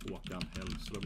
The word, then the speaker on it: Håkan Hellström: Håkan Hellström is a famous singer in Sweden. Håkan Hellström, like that.